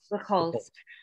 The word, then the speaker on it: Buchholz: Buchholz.